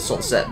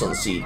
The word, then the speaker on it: Sunseed: a sunseed berry or as I called it sunset Berry as a kid but it's actually pronounced sunseed Berry there's no